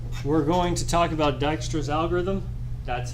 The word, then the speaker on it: Dijkstra: okay lastly we're going to talk about Dijkstra's algorithm that's how you pronounce his name it's a it's I don't